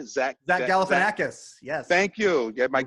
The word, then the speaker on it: Galifianakis: zach galpa how do you say zach zach galifianakis yes thank you yeah mike welcome greek is